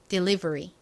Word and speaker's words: delivery: 실제 영어 발음으로는 끝에 R 뒤에 모음이 왔으니까 re 이렇게 발음이 됩니다. delivery.